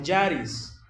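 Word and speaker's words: χάρις: La base teológica para vivir en santidad es la gracia de Dios, que en griego se pronunciaría como charis, que significa un favor inmerecido, un regalo de Dios gratuito, inmerecido.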